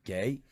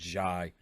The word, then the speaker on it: Ghey: Manchester Vigil as well, and apparently you don't pronounce her name Gay. Her name is pronounced Ghey.